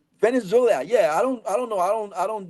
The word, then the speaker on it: Venezuela: conference we will run Venezolia. Uh I don't know how to say this this country name. I always mess it up.